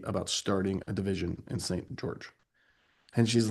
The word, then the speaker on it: St. George: So, it's pronounced St. George when you live there, by the way. St. George, that's how they say it. Jarge.